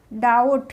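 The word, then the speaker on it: doubt: इसको डेप्ट नहीं बोलेंगे डीओ यू बीटी डाउट क्या बोलेंगे डाउ नहीं बोलेंगे इसको एस यू बीटी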